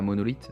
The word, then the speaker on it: MNLTH: Mais oui, c'est la monolith, donc qui s'écrit, MNLTH. Donc ils l'ont écrit, de façon assez abrégée en retirant les O, et cetera.